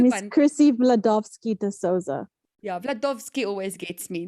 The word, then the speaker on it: Chrisy Vladovski De Souza: Chrisy Vladovski De Souza.